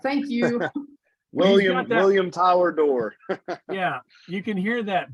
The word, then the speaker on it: Doerr: No, it it is it is Will Door. Actually, some people pronounce it Doer or it's actually pronounced Door.